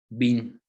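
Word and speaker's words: בִּין: Y es bin, con B grande, o B de bueno, bin. Y hay otra palabra que es ben. Igual se escribe igual, con B grande, con B de bueno, pero es ben.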